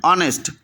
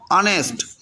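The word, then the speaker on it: honest: না কি বলতে হবে অনেস্ট এখানে কি উচ্চারণটা হবে আমি দেখায় দিচ্ছি এই দেখো খেয়াল করো এখানে এইচ এর উচ্চারণটা বাদ এইচ এর উচ্চারণটা বাদ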